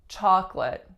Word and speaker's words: chocolate: that's troublesome for people the word chocolate chocolate and it really looks like chocolate chocolate or chocolate but we totally get rid of that middle syllable most of the time and just say chocolate